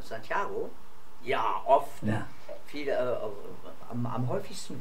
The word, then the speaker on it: Santiago: erste Frage wurde dein Name schon mal falsch ausgesprochen ja nicht nur einmal das ist sehr sehr oft passiert ja mein Name Santiago ja oft viele am häufigsten war sano Sango